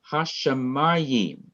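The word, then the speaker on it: השמים: The accent is on the syllable before the last syllable, the syllable ma.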